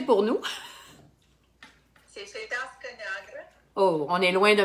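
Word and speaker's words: Fetească Neagră: Est-ce que tu peux les prononcer pour nous? C'est Fetasca Negra.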